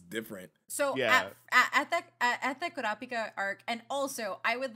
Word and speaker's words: Kurapika: at the Kurapika arc, and also I would like to say that everybody that I know who understands how to roll your R in Spanish don't have a problem saying Kurapika, whereas like everybody else that I know usually do.